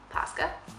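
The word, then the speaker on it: Paska: it is orthodox easter today we got a pasca and i'm saying it correctly which is the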